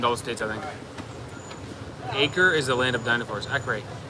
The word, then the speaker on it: Acre: It's spelled like acre, but they call it Acre.